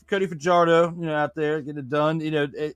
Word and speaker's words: Fajardo: I mean, I'll say his name right, Cody Fajardo. There you go. Fajardo, like I was saying for half of the season last year.